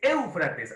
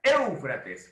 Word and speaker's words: Éufrates: trisis El Nilo eufrates éufrates creo sí es éufrates así se pronuncia éufrates practique por favor éufrates diga en voz alta éufrates así se pronuncia